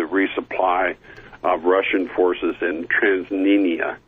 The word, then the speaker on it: Transnistria: The Ukraine has allowed the resupply of Russian forces in Transnistria. I'm probably mispronouncing that. I've been aware of it for years. I read it, but I'm not sure how they pronounce it. It's Tranistria.